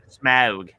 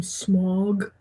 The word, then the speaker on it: Smaug: I always used to do his voice like this whenever I would read The Hobbit because the boys kept pronouncing his name Smog.